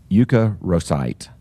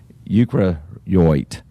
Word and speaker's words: eukaryote: It's called a eukaryocyte. So EUKARYOT. Excuse me, I mispronounced that. Eukaryote.